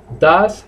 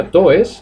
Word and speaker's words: does: Entonces, he plays, does he play, no se pronuncia does, acordaos, se pronuncia D-A-S, does, does.